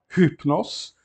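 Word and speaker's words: ὕπνος: Portanto, aqui, de fato, nesta palavra, hypnos, o acento gráfico ele fica na primeira sílaba.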